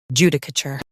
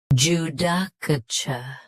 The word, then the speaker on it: judicature: Judicature. Judicature. US ends with cur. UK ends with chur.